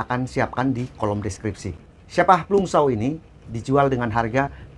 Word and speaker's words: Scheppach: Jadi bacanya Schepach. Schepach kalau bahasa Jawanya ini sepak.